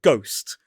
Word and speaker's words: ghost: Take the word ghost. It used to be spelled G O S T, but Dutch printers decided to add a silent H to the English word